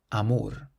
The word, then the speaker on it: amor: So to start us off, we have a word that ends in an R. So we stress the last syllable. Amor. Amor. It means love.